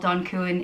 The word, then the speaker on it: Donn Cuan: It reminds me of, you know, in Italian, they say Don when they're talking to someone with respect, someone that has a lot of power. So, you know, Don Corleone.